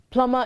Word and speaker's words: plumber: plumber not a plumber plumber is spelled p-l-u-m-b-e-r but in pronouncing it db is silent and is also silent